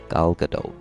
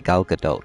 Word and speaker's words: Gal Gadot: She is probably with exactly Gal Gadot, but it's like it's a T at the end, but like a soft T.